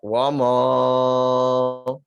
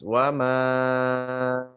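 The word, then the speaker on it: وَمَا: Ya, jadi tidak lagi dibaca wamo. Ya. Tapi dibaca tipis wama.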